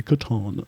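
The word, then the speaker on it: Catan: we edit a tan is it Katana Katan it's Katan even though he mispronounces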